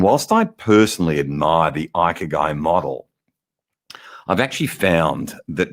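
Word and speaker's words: ikigai: with a model and i've you've got this icker guy or actually you know the correct pronouncing pronunciation i understand is ike guy so um so you may have heard of ikogai which is a japanese model for career choice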